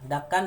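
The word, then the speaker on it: دَكًّا: Tapi karena dia waqaf, berhenti ya, maka dia akan dibaca fathah ten diganti menjadi fathah mat tabi'i, fathah alif ya. Seperti ini bacanya. Kalla idza dukkatil ardu dakkan dakka, ka, satu alif.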